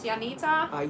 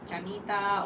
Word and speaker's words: Janita: So, my name is Yanita. can be pronounced in many ways, but the Finnish way to say it is Janita. But usually people in Australia, they say Janita or or something like that.